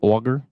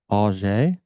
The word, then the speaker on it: Ajay: One person did it wrong and she corrected them. They say auger? Yeah, I think it was Cecil. And I've heard them say Ajay.